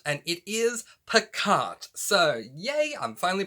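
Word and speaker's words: Pacat: to this video i knew it was either pikach or passat and it is picart so yay i'm finally pronouncing it correctly this book is categorized as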